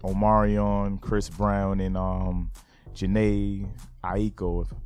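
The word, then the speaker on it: Jhené Aiko: Chris Brown and um Jana Aiko that's how you say her name they eat the boot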